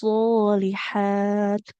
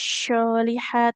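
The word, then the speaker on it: الصالحات: Nah, huruf shad itu tidak jadi wa amilus syolihat, tidak syo. Tapi so, satu tempatnya dengan huruf sin.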